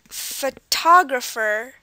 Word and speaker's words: photographer: next word photographer photographer and this word has four syllables photographer and from what we can tell the stress is on the TP part photographer it's like the highest emphasized photographer um the rest of them um are not as highly stressed as the T syllable photographer and the final word